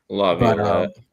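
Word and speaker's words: LaViolette: Lavlet.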